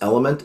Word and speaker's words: LMNT: couple companies one's called It's pronounced element lmnt super good product um